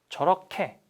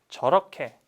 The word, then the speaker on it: 저렇게: We want to add 개. But this guy pronounced 캐. 저렇게. 이렇게. 그렇게. 어떻게. Right? I'm the rule. So, pronounce it like I do. 이렇게, 그렇게, 저렇게, 어떻게.